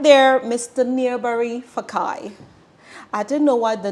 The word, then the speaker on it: Fakae: Nia'Bari Fakae.